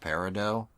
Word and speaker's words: Peridot: called they call her peridot although that is pronounced peridot but I mean it's a stupid name anyway